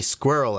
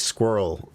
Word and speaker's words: squirrel: Everyone, call him y'all and say squirrel at him. Someone commented today, I forget the context. It was like, I can't believe you Yanks' ability to make squirrel a one-syllable word.